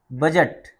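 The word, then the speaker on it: budget: ग्रज माने स्त्रिया डी बी यू डी जी ई टी बजट इसमें डी साइलेंट रहेगा बजट माने लेखाजोखा बी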